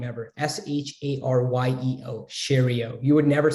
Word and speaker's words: Sharyeo: SHARYEO, Shario. You would never spell it that way.